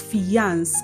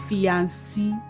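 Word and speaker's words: fiancée: Are you among those who pronounce this word as fiance and this word as fianci? No. No. No. Did you know that these two words are actually pronounced the same way?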